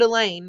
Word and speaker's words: Elaine: this isn't over but elaine rhymes with pain he wants it to